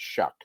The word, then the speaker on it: Shough: And here's my favorite mid-round guy, Tyler Shuck from Louisville. Shough, but it's pronounced Shuck.